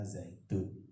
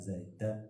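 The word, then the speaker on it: زيتون: Jadi bacanya zaitun, tidak zaidan, tidak zaidin. Jadi mengapa di pesantren diajari begitu dan kitabnya nggak ada harokatnya tapi bisa dibaca dengan benar?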